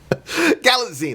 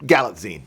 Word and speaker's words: Galitzine: Galitzine, like a magazine, but Galitzine.